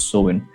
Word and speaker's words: Samhain: a couple of movies uh where they do pronounce it as salmon but using it as sewin the cells who lived uh 2000 years ago